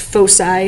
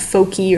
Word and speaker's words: foci: to identify is something called pho sigh it's pronounced fo sigh not fo key or fo c fo sigh it's the plural